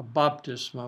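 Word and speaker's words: βάπτισμα: entrenched from pallone to baptisma a baptism i would be the better pronunciation of it baptism so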